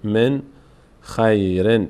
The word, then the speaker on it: من يشاء: حرف مابد به یا به جای نون باید یا تلفظ کنیم می یشا اینجا قادی ادغام صورت